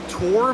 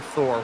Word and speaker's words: Thor: I had a driver one time whose actual name is, well, his name's pronounced Tor, but it's spelled like Thor. So for the longest time, I called him Thor, which I feel like